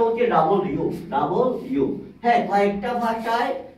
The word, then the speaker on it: W: অথবা এভাবেও দেখবেন কিন্তু উচ্চারণটা কি প্রোনাউন্সিয়েশনটা কি প্রোনাউন্সিয়েশনটা হচ্ছে ডাবল ইউ ডাবল ইউ হ্যাঁ কয়েকটা ভাষায় এটাকে ডাবল ভি উচ্চারণ করে যেমন ফ্রেঞ্চ তারপরে স্প্যানিশ কাতারিয়ান এবং